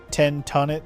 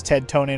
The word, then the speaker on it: Ted Tonate: Oh yeah, like is it's it's clearly Ted do tonate as in like detonate. It's pretty obvious. Right when they said his name was Ted Tonate, I was like, you mean like detonate?